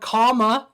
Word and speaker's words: Kamala: m a l a it's literally the word comma Dash law Harris I guess so people